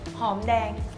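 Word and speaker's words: หอมแดง: Hom dang. Hom dang.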